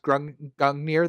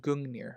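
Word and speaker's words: Gungnir: the vein of Kraken, they mispronounced Grung Gangmir the spear. Annoyed the out of me. Yeah, no. Yeah, it's it's been it's it's been pronounced Gungir or Gungir.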